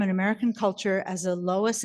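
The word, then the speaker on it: Logie: is the David and Roberta Loi rhymes with hogi she gave me the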